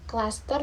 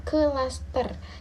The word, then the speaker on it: klaster: Jadi, dalam pengucapannya, KLA diucapkan sebagai satu rangkaian bunyi yang cepat tanpa jeda atau tanpa vokal di antara konsonan K dan L. Contohnya klasik bukan klasik, klaster bukan kelaster.